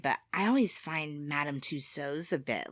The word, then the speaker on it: Tussauds: And you pronounce it Tussauds. Tussauds. Tussauds. Tussauds, but we say Tussauds in America.